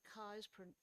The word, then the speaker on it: Keys: portrait of a governor governor kai's pronounced kai's but spelled keys for dozens and dozens